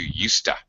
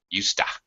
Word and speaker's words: used to: they probably more commonly the pronunciation is reduced to USTA I used to study French USTA very reduced uh because it's such